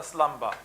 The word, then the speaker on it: slumber: for sleep slumber and we pronounce that the B by the way here because of the stress so rise like lions after slumber then unvanquishable number shake